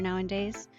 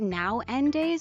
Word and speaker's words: nowadays: Yeah, that kind of style has gotten pretty popular nowadays. Is it now-en-days or nowadays? I just realized that it's written now-a-days instead of now-en-days. Ooh, I think I've been saying it wrong this whole time.